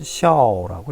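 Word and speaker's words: 孝: 중국어로는 샤오라고 읽힙니다.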